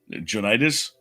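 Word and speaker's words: Joannides: Gordon Campbell, and George Joanides. Joanides. There you go. Sorry, I had to pronounce the 2 N's.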